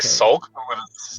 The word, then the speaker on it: sulk: It's like sulk.